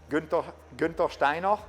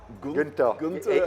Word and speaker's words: Guenther Steiner: It's in German. It's actually pronounced Guenther Steiner. Guenther. It's too difficult to say for an Englishman, so therefore it has been changed to Guenther.